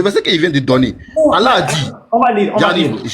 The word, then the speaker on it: Allah: Quand tu dis Allah, c'est pas français ni truc, c'est Allah, c'est Allah. C'était la prononciation en arabe.